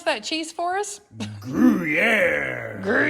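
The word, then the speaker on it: Gruyère: Gruyere. Gruyere. You gotta say it like the French.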